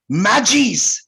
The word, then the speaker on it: Magi: और ये कहता है, न्यू टेस्टामेंट कहता है कि दे वर प्रीस्ट्स, जिसका नाम था मैजीज। उन लोग मैजी प्रोनाउंस करता है, लेकिन स्पेलिंग है MAGI, जिसे हम लोग मगी कहते हैं।